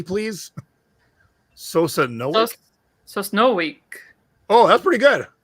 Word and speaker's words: Sosnowiec: So anyone Polish in the chat who can give it to us phonetically, please? Sosnowiec.